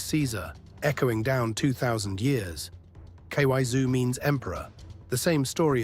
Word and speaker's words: Kaiser: Ky zoo.